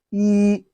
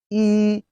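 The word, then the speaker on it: 一: rising tone laying laying one in chinese is pronounced as he he repeat after me e just in case is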